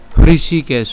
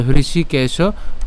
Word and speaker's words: হৃষিকেশ: একটু বলছি এব মুক্ত হৃষিকেশ এই হৃষিটা উচ্চারণ কিভাবে বলেছি এচআর আই উর্ধন্য রসিকার হ্যাঁ দীর্ঘকার তাহলে হৃষি তাহলে হৃষিকেশ গুরাকেশে নন ভারত সেনরু